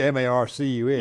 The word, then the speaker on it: Marques: It ought to be Marcus. Yeah, well, that's how you say exactly, it. That's phonetically how you say it.